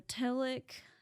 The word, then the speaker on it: telic: There are telic, I think that's how it's pronounced, it's TELIC, and that's stuff that we have to do, like getting groceries, washing the dishes, doing laundry.